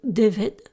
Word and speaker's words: Dyfed: du pays de Galles, le Déved, qui en français s'écrit Dyfed, et le Gwent.